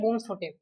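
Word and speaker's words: Bloemfontein: तीसरी हमारी है बूम्सफोर्टे, बूम्सफोर्ट या बूम्सफोर्टे ऐसा करके इसका प्रोनाउंसिएशन है।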